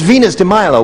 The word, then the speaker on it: Venus de Milo: I'm not sure if that's how you pronounce it. Venus de Milo is correct. Well done. She says Venus de Milo will match you for $2,500.